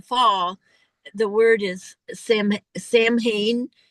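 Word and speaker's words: Samhain: The word is Sam Sam Hayne.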